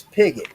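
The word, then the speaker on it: Pigott: My last name is Pigot. It is spelled P I G O T T.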